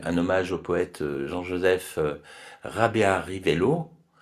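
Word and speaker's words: Rabearivelo: On aura donc une un hommage au poète Jean-Joseph Rabea Rivello qu'on prononcerait en malgache Rabéa Rivelou parce que le O se prononce ou en malgache qui donc un un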